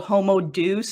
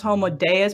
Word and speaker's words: Homo Deus: much but he has a trash book called homo deuce and i know it's pronounced homo deus but homo deuce is appeared it's a clear